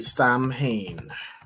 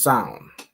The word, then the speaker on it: Samhain: So, it's not exactly Sam Hayne. How would you pronounce this? Let me look up pronunciation. So, I think it's pronounced. All right. Son or Hold on. It's pronounced as sound.